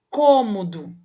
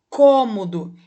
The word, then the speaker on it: cômodo: agora na letra b cômodo de novo cômodo perceba que o som ele é o que ele é fechado então recebe o acento circunflexo o número número 1